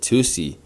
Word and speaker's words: tusi: Some call it Tusi or Tusi after the way Tusi 2CBI is pronounced in English, a psychedelic compound first